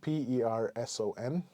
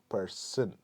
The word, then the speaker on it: person: you pronounce the word p e r s o n person person so over here it's not a sh sound it's a s sound so it should be